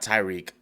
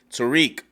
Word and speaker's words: Tariq: got on me it's telerik i know not tyrique but listen i don't speak that european language i'm i'm all uh but but i'm trying to say it correctly tariq is free from jail yes um and let